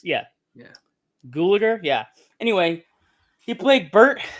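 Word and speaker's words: Gulager: to butcher the name clue gulliger google it sounds like gallagher but it's spelled differently but it's yeah yeah gulliger yeah anyway he played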